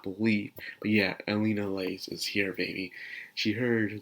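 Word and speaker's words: Elinalise: scene one of my personal favorites inter scene Elena Lays you cannot believe how long it took me to actually say her name right you could not believe but yeah Alina lace is here baby she heard the word rudiest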